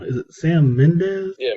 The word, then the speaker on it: Mendes: got and I'm probably going to say his name wrong is it Sam Mendes yeah Mendes that's yeah um American Beauty uh road to